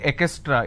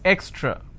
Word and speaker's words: extra: words for you distance extra lot of people mispronounce this word extra they say exra it's not exra so let me break down